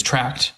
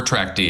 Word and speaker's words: trackd: of the company uh it's either it's track or track D it doesn't matter uh but typically what